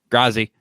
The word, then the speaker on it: Grazi: Grazi. It's not a V. Yeah. It's Grazi. She don't even know how to say her name. It's a Z.